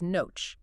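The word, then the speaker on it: נֹחַ: In the original text, the word for Noah is noach, which is spelled with two consonants, nun and chet.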